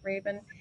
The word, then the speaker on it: Rabun: young at unc charlotte and this is sheila raven did i pronounce that right raven correct you did good yay um her presentation